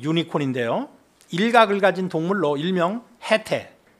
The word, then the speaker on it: 해태: 일각을 가진 동물로 일명 해태. 또 그거는 태는요. 치라고도 발음해요. 해치라고도.